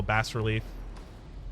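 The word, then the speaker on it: bas-relief: bowel relief ball relief while bass relief both pronunciations are accepted feel free to look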